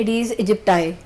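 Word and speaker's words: Aedes aegypti: है इसकी वायरस की, वो होती है एडीज इजिप्टाई और मे बी एडीज इजिप्टी। हम इसको दोनों तरह से प्रोनाउंस कर सकते हैं।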